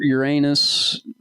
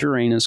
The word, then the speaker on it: Uranus: the whole Jupiter Saturn your Uranus pronounced Uranus that's so stupid it's Uranus cuz it's funnier yeah uh Neptune they're